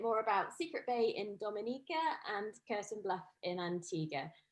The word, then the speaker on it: Dominica: it's one punch time we call it dominican it's spelled d-o-m-i-n-i-c-e it is not dominican republic it